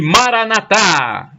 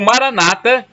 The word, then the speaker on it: maranata: ele proverá o e maranata como dizem os católicos com a tônica na última sílaba ou maranata como dizem os protestantes com a tônica na penúltima sílaba o significado é o